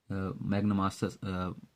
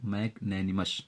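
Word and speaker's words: magnanimous: Next word आपका है मैग्नमासस, मैग्नमासस, ठीक है। हालांकि इसे आप बोलेंगे मैगनैनिमस, इसका जो शुद्ध प्रोनाउंसिएशन है मैगनैनिमस है।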